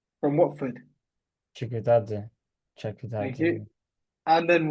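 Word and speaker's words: Chakvetadze: They've got Georgie Chakvedze from Watford. Chikutadze.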